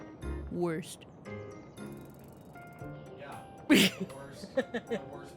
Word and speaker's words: Wurst: It's German. They say W like it's cut in half. Worst.